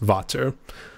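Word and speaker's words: Vater: that's why when people say there you go Vader sticks I always think I always think of him but it's meant to be pronounced Vato so well a little bit a little bit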